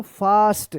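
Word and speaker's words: fast: जब भी ए के बाद एस रहे या डबल एस रहे तो ए का आ उच्चारण होगा। क्या पढ़ेंगे इसको? फास्ट।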